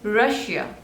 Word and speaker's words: Russia: Next is Russia, Russia. So there are 2 syllables and the stress is on the second one.